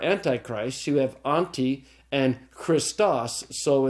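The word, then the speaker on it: Χριστός: This is the word for Christ, and hero and sigma tau can be pronounced together. So they're kept together and they go with the following vowel. So it's Christos.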